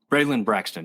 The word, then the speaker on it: Braylon Braxton: Braylon Braxton, yeah.